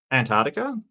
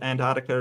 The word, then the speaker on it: Antarctica: the intelligent people are Antartica um not sure if it's the accent but I thought Antarctica is how it's pronounced shall we say and